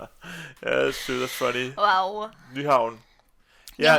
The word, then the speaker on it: Nyhavn: Nyhavn. Newham, which is the spelling of that one is I think Y Nyhavn. A. Yeah. It's like Neyhaven, but when you pronounce it Johan, how come it's like that?